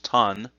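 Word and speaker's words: 短: underneath so that that whole kanji which is pronounced tan is means short okay the next kanji again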